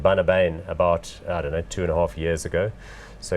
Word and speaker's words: Bunnahabhain: Bunnahabhain is how you pronounce not this. Bunnahabhain. It's one. That sounds Dutch, not Scottish. No, it's a Gaelic name, and I tried some